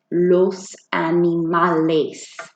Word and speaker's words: animales: Whenever we see that E in Spanish words, we have to pronounce it with the A sound. Los animales.